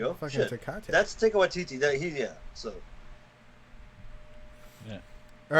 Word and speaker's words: Taika Waititi: Taika Waititi, yeah. His name's Damn, there you go. fucking Shit. Takate. That's Taika Waititi.